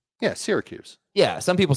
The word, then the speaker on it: Syracuse: It's Syracuse, like syrup. yeah, Syracuse.